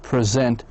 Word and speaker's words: present: We got most two syllable nouns like present. Most two syllable nouns have the stress on the first syllable.